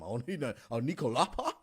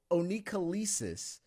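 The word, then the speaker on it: onycholysis: He says some onycholapa? Like, what the heck is that? No, oncholysis. All right. And you may have seen it or heard it said a different way, but oncholysis or oncholysis, it's spelled oncholysis of the fingernails.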